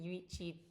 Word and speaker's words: Yuichi: with this boy yuichi I that's how you pronounce it yuichi tan tan tanabe um and it's kind of